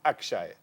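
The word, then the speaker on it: Akshai: job is to teach his name is spelt a KS h AI suppose we call him Akshay so we're doing cricket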